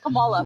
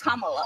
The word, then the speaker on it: Kamala: Earlier you said Kamala. The way she pronounces her name is Kamala.